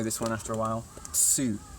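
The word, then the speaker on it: つ: Tsu, instead of tu, it's tsu, like tsunami, right?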